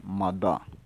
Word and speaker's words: mada: El caballo en Overe se dice mada. Mada. Depende de la región, se puede pronunciar de otra manera, pero al menos en mi región, como yo le estoy diciendo, se dice así.